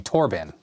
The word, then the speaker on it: Thorben: Thorben with a silent H. So that'd be Torben.